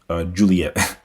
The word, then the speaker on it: Juliet: Intended to be pronounced Juliet.